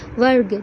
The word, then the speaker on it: वर्ग: क्या हो रहा है, वर्ग। देखिए, जब मैं उच्चारण कर रही हूँ तो व पूरा है, र आधा है और फिर ग के साथ अ जुड़ा हुआ है और ग फिर पूरा है।